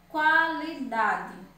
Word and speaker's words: qualidade: Assim como o exemplo da palavra queijo e qualidade. Qualidade, eu falo QU. Então, qualidade, o QU da palavra qualidade não é um dígrafo, mas o